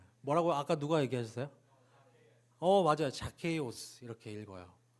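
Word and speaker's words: Ζακχαῖος: 읽으면은 제가 이렇게 영어를 잘하진 못하지만 그냥 이렇게 발음만 들어주세요. 아니 그러니까 말만 들어주세요. 뭐라고 아까 누가 얘기하셨어요? 맞아요. 자케이오스 이렇게 읽어요.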